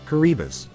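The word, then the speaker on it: Kiribati: For those of you who answered yes, did you know that it is pronounced Kuribbus?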